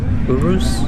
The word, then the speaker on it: Urus: the right lane right or is that you pronounce it uru Urus I got the SUV on this one that